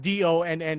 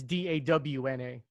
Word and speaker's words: Dawna: And Dawna is spelled not Donna, it's Dawna.